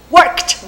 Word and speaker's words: worked: Porque o final é o K, esse Kzinho puxa esse T da pronúncia e vai ficar worked. E o E sumiu total. Não pronuncia esse E de jeito nenhum.